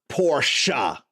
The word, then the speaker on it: Porsche: It's supposed to be pronounced Porsche. I keep saying Porsche based on that.